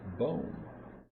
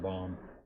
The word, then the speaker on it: Bohm: Alec Bohm. Or Baum. I think it's, if I were him, I pronounce it Baum.